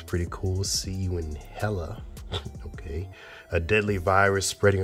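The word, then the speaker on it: HELL-A: Oh, it's Hella. Oh, my goodness. I've been mispronouncing that all along.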